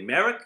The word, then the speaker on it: Merrick: talking to Merrick from how do you say your name prop like Merrick or yes okay good we are talking to